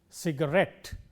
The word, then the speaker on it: cigarette: In all these words, the stress is on the last syllable, cigarette, cassette and so on.